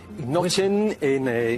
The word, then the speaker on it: Knoche: Nochen, sería noche en una N más al final, sería hueso. O Noche, como van a escuchar ahora, que se pronuncia en alemán.